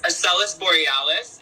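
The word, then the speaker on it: Asellus Borealis: It's Acellus Borealis, and it's at 7 degrees and 34 minutes Leo. Could you spell that for us right quick?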